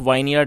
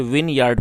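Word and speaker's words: vineyard: वाई ए आर डी इसको इसमें ई silent है तो इसको आप वाइन यार्ड नहीं पढ़ेंगे इसे विनयार्ड पढ़ेंगे और विन विनयार्ड का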